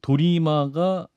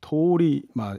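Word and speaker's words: 通り魔: 자, 일단 도리마 살인이라고 제가 이제 말씀드렸는데 도리마가 이제 일본어로 길거리 악마라는 뜻이라면서요. 네. 이게 언제부터 이 용어가 생겼던 겁니까? 이게 이제 우리나라에서 이제 도리마 이렇게 얘기하는데 사실 이제 발음이 이제 토리마 약간 긴 토리마.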